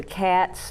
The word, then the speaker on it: XAT: And when I lived in Nashville, I was one of the ceremonial leaders and the council pipe carrier for the CATS, Native American Medicine Society. It's spelled XAT.